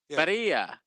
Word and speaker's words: birria: Birria. Birria. Birria. Oh, it's pronounced birria.